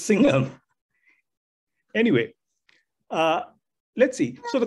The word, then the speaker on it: Singham: It's not Singman, it's Singham.